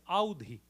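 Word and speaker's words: Awadhi: scholarly in the language of avadhi or otherwise pronounced as Audi avadh is a region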